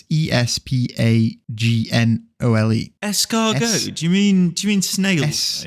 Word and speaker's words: espagnole: Espagnol. Espagbol.